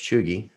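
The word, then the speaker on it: cheugy: It is pronounced Chugi with a hard G.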